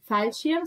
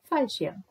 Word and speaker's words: Fallschirm: Fallschirm sounds a bit like for shimp.